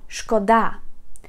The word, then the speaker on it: шкода: Guys, pay attention, this word has two stresses and if you put the stress on the first syllable and say шкода, шкода means damage. Harm, and шкода, when you put the stress on the second syllable, it means like pity, like мені шкода.